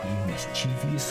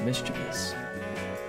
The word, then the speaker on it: mischievous: yes Danny help mischievious little it's actually pronounced mischievous maybe you would know